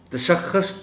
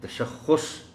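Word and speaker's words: تشخّص: لفظ بہرحال اہم ہے۔ تشخص پڑھ جاتے ہیں لوگ اس کو، اسے تشخص پڑھا جانا چاہیے۔ قدر، بہت دفعہ اس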